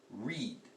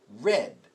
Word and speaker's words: read: So when we say read in the present tense, we pronounce it read. When we say the past tense of the word read, we say it read. We make it sound different, even though the spelling is the same.